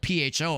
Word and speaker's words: pho: and pho is spelled P-H-O, obviously. It's spelled P-H-O, but it's pronounced pho, not pho, but pho.